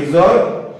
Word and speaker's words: XOR: এটা দিলে পরে এটাকে উচ্চারণ করতে হবে a XOR b। তাহলে এটাকে আমরা বলতে পারবো a XOR b, এটা হবে উচ্চারণ।